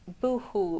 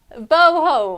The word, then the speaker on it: boho: We didn't use the boohoo bits. I said it right. And, oh, I did, didn't I? Ah, boho. What did I say then? Ah, boho. There you go.